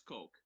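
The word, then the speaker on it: Koch: pronounce uh coke k-o-c-h on their actual website they say you pronounce it as coke so well there you have it yes so it's heckler and coke g36c uh are one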